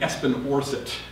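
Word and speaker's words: Espen Aarseth: So we have another friend in common, a sort of absent friend here, a fellow named Espen Orset, which is not spelled the way it's pronounced.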